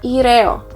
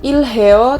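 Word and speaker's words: 일해요: heo, menjadi ilheo atau ireo. Bacanya kayak ireo, kayak jadi R lagi. Bukan ilheo, tapi menjadi ireo. Ireo, seperti itu.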